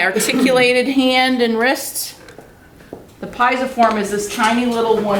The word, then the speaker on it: pisiform: The pisiform is this tiny little one.